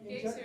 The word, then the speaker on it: geyser: in Japan, Geyser is the word, it's an Icelandic word. Oh, is So it? it's geyser. Wait, so Pronunciation. that is the correct thing. Yeah, I can tell you, you did it right.